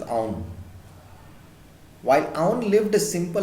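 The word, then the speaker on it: Auðun: Ahdun. While the actual pronunciation is Aun.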